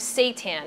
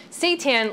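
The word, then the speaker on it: seitan: be made out of Satan now Satan let me just explain what that is first of all it's spelled SE i t an I know it sounds like something else but it's actually wheat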